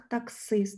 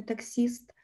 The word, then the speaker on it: таксист: Отже, за цим правилом пишемо таксист, хоча й під наголосом, так, таксист, не таксіст.